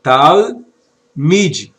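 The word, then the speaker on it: תלמיד: Tal, como lemos aqui, ó, tal, mid. Observe que o sheva ele não é pronunciável, ele apenas separa, divide, ele marca o final da primeira sílaba.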